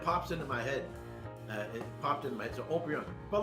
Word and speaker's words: Haut-Brion: That's the other first growth, Haut-Brion. It's spelled like hot Brion. Haut-Brion.